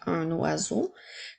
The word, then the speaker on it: un oiseau: oiseau encore une fois je vais je fais la liaison du N avec le son a donc un oiseau comme dans les phrases